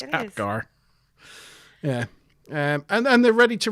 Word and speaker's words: Apgar: I had to remember how to pronounce his surname then for a minute. Yeah, they've completed their analysis Akbar, of. but it's not. It's Apgar. Akbar. Apgar. Yeah, I'll probably keep saying Akbar.